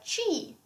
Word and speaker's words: ci: Yes, same pronunciation. B. Yes, yeah, B. Yeah. Then we have chi.